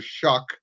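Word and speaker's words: Shough: or 1-9, and they finally, they drafted Tyler Shuck. That's the correct pronunciation.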